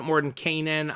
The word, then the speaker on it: Mordenkainen: for uh for tasks mordenkainen is uh by the way other people pronounce it more than kanan i'm gonna say whatever